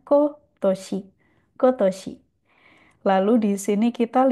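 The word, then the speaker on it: 今年: Jadi untuk tahun ini bukan kontoshi, tapi dibacanya kotoshi.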